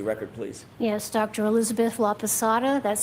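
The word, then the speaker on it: Laposata: Elizabeth Laada, that's spelled L A P O S A T A.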